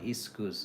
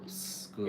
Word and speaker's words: school: No, it's not iskus, okay? It's school.